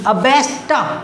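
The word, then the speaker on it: abased: देखो उच्चारण देखना, ABSHED, अबेस्ट, टा की आवाज़ आती है, अबेस्ट, डी भी टी की आवाज़ दे रहा है, मैं इसमें से पढ़ रहा हूँ।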